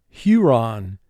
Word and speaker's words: Huron: Huron. Huron. Lake Huron is one of the Great Lakes in North America. First syllable, Hu, 2 sounds. H, U. Ron, 3 sounds. R, A, N. Huron.